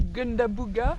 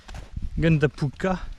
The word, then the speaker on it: Gundabooka: Alors là, j'ai dit Gundabooga, je crois, quand j'ai appelé le garde. Il m'a dit oui, oui, oui, c'est ouvert. Mais je crois que c'est pas vraiment Gundabooga. Gundapuka. La prononciation est pas la bonne, mais pas le